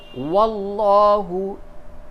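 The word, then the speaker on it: والله: فئتین، فئتین، واللہ ارکسہم، واللہ، یہ لام جو لفظ اللہ کا لام ہے اس کو پر کیجئے، کیونکہ اس سے قبل زبر ہے، اس کو منہ بھر کے اس کے تلفظ کی ادائیگی ہوگی۔ واللہ ارکسہم بما کسبوا،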